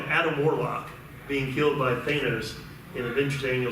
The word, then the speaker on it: Thanos: We're talking Adam Warlock being killed by Thanos in Avengers Annual 7.